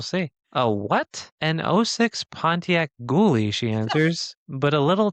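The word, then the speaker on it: Goolie: years have I ever heard of a Pontiac Ghouly. They reiterate it's pronounced ghouly.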